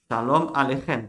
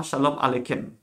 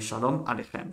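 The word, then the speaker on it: שלום עליכם: Attention, KH se prononce comme la Jota. KH, c'est Ra. Shalom Aleichem, pas Shalom Aleikem. Non, c'est Shalom Aleichem.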